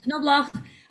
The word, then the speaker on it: Knoblauch: But I asked them, and they say you pronounce the K and you say the CH sound like the Germans would, even though it's a Spanish string. So Knoblauch, Eurythecus, and Bionylon.